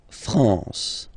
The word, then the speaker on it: France: A-N here, nasal en. La France.